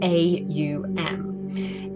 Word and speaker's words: Om: The sound is Om. Now in yoga, although it's written OM, it's pronounced AUM.